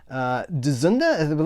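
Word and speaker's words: Dzundza: So we've got George Dzunda, that's how you pronounce his name, Jason Patric, Lost Boys, Stephen Bauer, and Stephen Baldwin.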